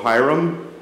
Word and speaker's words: Hiram: She's married to Hiram, and she told me that it's pronounced Hi and Rum in the response. So Hiram, I got it right.